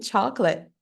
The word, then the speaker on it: chocolate: que são engon tidas por exemplo em chocolate A última silua é completamente ignorada a última silua do